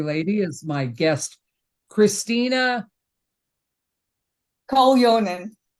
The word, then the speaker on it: Koljonen: Koljonen. Say it again, Koljonen. Koljonen, because Yes. it's spelled. I knew I wasn't gonna Yeah, get it's the J. It's Finnish, so the J it.